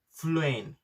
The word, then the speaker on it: Phlearn: It's called Fluent. The pronunciation is a little bit difficult, but the spelling is Phlearn.